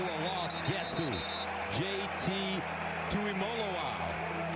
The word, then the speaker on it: Tuimoloau: Tuimoloau. It's Molo, like Rolo, folks. That's how they tell us to pronounce it.